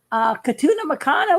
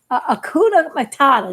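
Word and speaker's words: Hakuna Matata: It's like Katuna Makana, whatever that say on the Lion King. Well, Sally did it first. She did Felicidad. When that Akuna Matata, that's how you say it.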